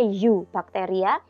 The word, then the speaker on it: Eubacteria: Tulisannya Eubacteria ya, bacanya Eubacteria.